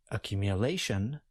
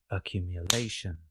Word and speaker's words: accumulation: But in the noun accumulation, we place the primary or main stress closer to the end of the word. We have the secondary stress at the beginning of the word. Listen for the primary stress when I clap. Accumulation, accumulation. Accumulate and accumulation are somewhat